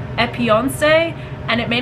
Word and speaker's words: Epionce: This is from a company called Epionce. And it may not be pronounced that way, but it's E-P-I-O-N-C-E.